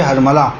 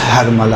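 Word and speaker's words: حرملہ: تھے، یقینی طور پہ ہرملہ، دیکھیں اصل تلفظ ہرملہ ہے، جسے ہم لوگ اپنی زبان میں ہرملہ کہتے ہیں، صحیح؟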